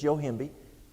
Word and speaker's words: Yohimbe: I spell phonetically. But it's Yohimbe, and it could be a vasodilator and help.